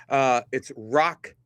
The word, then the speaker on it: Roch: It's Roch Chalowski is how it's pronounced, R-O-C-H.